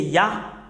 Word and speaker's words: Yah: Concernant la prononciation de Yod et He, c'est Yah. C'est Yah qu'on prononce.